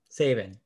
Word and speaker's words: Saban: Saban? Saban? There you go. Saban.